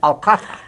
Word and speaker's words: Alcázar: Z is pronounced TH, Athania. Uh-huh. That was because King Philip II had a lisp and couldn't pronounce Z, and he said Alcatha. So that's why Madrid accent uses this peculiar accent, Alcatha.